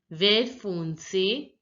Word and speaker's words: vert foncé: Dark green is pronounced as vert foncé, vert foncé. Now see, here you already know that the T is not pronounced and this has to be pronounced till where.